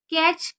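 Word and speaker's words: catch: कैच, यहाँ पर देखिए टी हमारा साइलेंट है, एक मिनट आपको दिख नहीं रहा होगा, हाँ आप देखिए, कैच का मतलब होता है पकड़ना, कॉट, कॉट।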